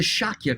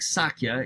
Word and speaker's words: Shakya: a little dot but when you see that dot over the s it usually means you're supposed to pronounce it as an sh so even though it looks like sakya it's really shaky so